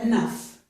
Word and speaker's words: enough: This is the transcription, and here we have a new vowel sound. Actually, we've seen it before in the first syllable of thorough. It's this vowel sound here. It's just okay? That is the same vowel sound as in the words but and cut.